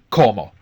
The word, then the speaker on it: como: And notice where the stress is like the ar verbs. The stress is always on the second last syllable. Okay? So it's not como it's comma.